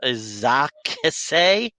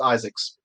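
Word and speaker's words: Izaakse: His name is pronounced Isaacs.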